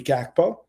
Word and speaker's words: Gakpo: how you pronounce it, because like the G in Dutch is pronounced as an H as opposed to a G. But if you're going to say it, I guess, with an English perspective of saying the name, it would be Gakpo.